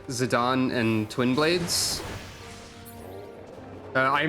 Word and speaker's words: Zidane: at zidan's weapons also I think zidon is the official way to pronounce it right I used to think it was zidane but there I